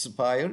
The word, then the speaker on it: Aspire: A is the silent A, so you're not hearing me wrong. It's pronounced Spire, even though it is spelled as ASPIRE.